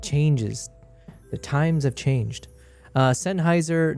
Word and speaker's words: Sennheiser: Sennheiser, not Sennheiser. Yeah, so it must be a me thing. I just pronounce it wrong.